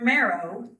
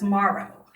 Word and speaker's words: marrow: During uh the last word meeting, um, the word marrow was repeatedly pronounced by Mr. Heed and Mr. Keart as Maro.